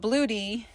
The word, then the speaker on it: Bluetti: I have is the bluey but I call it bluetti cuz that's what I read but I've heard it pronounced Bluey so we have the